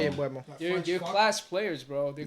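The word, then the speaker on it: Mbeumo: You pronounce his name Mbumo. Embuemo. Mbumo, something like And that. Boom and Bueno. I don't. I'm gonna stick with Mbumo. Sorry. Embuemo. Yeah, gotta be Embuemo.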